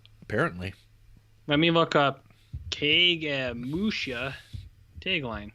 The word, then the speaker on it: Kagemusha: Let me look up Kagemusha tagline. That's how you pronounce that, right? It's like Cage Match.